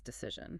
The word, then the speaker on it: decision: Decide has a long I decision has a short I. And the D turns into a z sound.